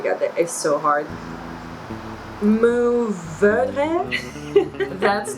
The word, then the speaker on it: Mourvèdre: Now you can roll your R here, especially at the end. Oh my god, that is so hard. Mourvèdre. That's not bad too. I would say my suggestion would be Mourvèdre.